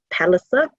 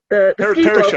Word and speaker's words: Perisher: He is, however, at Mount Palliser. Am I saying it right? Perisher. It's Perisher.